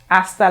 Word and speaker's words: hasta: pronto hasta la vista remember the h is silent in spanish remember for hello we said hola so for the h in these vocabulary words you do not pronounce them hasta luego hasta pronto hasta